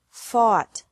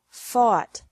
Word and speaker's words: fought: catch caught caught fight fought fought seek sought sought teach taught taught think thought thought remember that the g is silent in these verbs verbs with three different